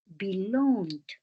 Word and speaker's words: belonged: Como termina en G, la pronunciación es D. This house has always belonged to our family.